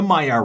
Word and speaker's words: Maillard: when bacon is cooked, and that is the Meyer reaction. And how do you spell that?